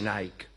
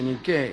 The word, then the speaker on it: Nike: Victoria quiere decir Victoria no se dice Nike se dice ni qué y por eso se